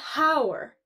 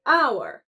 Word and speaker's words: hour: Similarly, in the word hour, the H is silent. We don't say hour, we say hour.